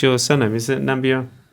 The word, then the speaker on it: Nambiar: I've never actually pronounced your surname. Is it Nambiar correct? It is Nambiar, Nambiar.